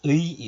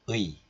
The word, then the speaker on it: 의: And this 의 is possessive marker, which is omitted here.